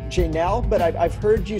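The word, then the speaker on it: Jaynelle: Well, her name is Janelle. Janelle, okay. Yeah. Okay. People get it confused because it's spelled with J-A-Y. Right, so right. Janelle. Okay. So Y is silent.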